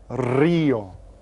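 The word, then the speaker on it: río: And you get to roll your R on that one. Rio.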